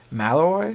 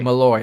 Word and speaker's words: Malloy: Malloy. Danny Malloy. Mallaloy.